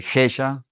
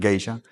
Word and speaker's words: Gesha: Entonces, el Gesha, que se escribe Sin la I. sin la I, pues uno en el castellano lo pronuncia con geisha.